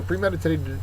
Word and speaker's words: premeditated: about it beforehand okay so premeditated is an adjective the second syllable is accented it is deliberately planned